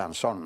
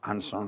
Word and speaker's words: Ansón: anson no yo creo que el apellido está castellanizado y se dice ansón no es que mi apellido tiene un origen británico de un pirata británico que se llamó anson entonces allí se pronuncia así pero aquí en España siempre hemos dicho anson es como si dice